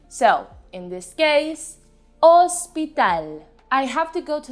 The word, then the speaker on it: hospital: have hospital in spanish hospital remember that as a rule in spanish the letter h is always silent unless it's preceded by the letter c so in this case hospital i have to go